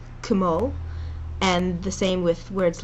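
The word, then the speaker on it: כמו: And the same with the word kmo, kmo, and the same with words like katanim. So make sure you pronounce both the K and the T, and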